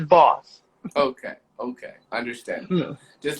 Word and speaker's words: Bawse: the e is silent e is silent yes okay thank you for thanks thanks for clarifying that thank you so much i was like designs like okay i thought that that was what it was like apparently not you're actually not the first person to pronounce it wrong because i think they they're looking at it too hard i'm like don't don't over don't overthink it it's his boss okay okay i understand